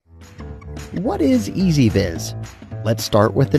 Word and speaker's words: EZVIZ: what is easy vis let's start with the name it's pronounced easy vis the name is important